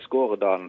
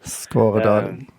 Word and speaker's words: Skåredalen: It's Skåredalen Funhouse. Skåredalen. Skåredalen, yes. That's sort of small part of the town where we are coming from, Haugesund in Norway.